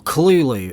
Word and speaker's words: Cthulhu: Now, Katiganor is obviously just meant to be Cthulhu, right? Or Cthulhu, as Lovecraft would say. Apparently that's the correct way to say it. Lovecraft's words, not mine.